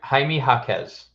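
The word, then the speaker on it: Jaime Jaquez: mean it doesn't matter you know how to pronounce his name correctly ha haime hakz so that's what I I swear it was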